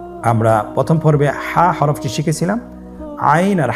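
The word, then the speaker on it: عين: আইন হরফটি উচ্চারণের সময় অবশ্যই তিন আলিফ টেনে পড়তে হবে। এখন আইন হরফটি বারিক হরফ। পাতলা করে পড়তে হবে। আপনারা আমার সাথে বলুন আইন আবার বলুন আইন আইন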